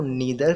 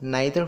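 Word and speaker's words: neither: उसी प्रकार नाइदर है, हम नाइदर को नीदर भी पढ़ सकते हैं और नाइदर भी पढ़ सकते हैं, बोथ आर करेक्ट।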